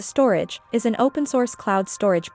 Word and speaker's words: Storj: Storj, pronounced as a storage, is an open-source cloud storage platform.